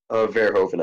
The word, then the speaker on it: Verhoeven: How do you pronounce his name? Verhoeven, I believe.